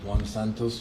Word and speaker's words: Santos: Um, Sergeant, can you please state your name for the record and spell it for the clerk? Sergeant Juan Santos.